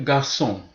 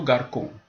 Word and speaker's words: garçon: c'est sur le C lorsque c est suivi de a de ou de U voilà par exemple garçon si j'enlève la cédille sur le C je ne dirais plus garçon mais plutôt garçon très très important mes